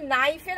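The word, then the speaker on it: knife: তুমি একবার ভেবে দেখো তো, এই যে নাইফের আগে যে কে রয়েছে, তুমি কি উচ্চারণ করতে পারবে?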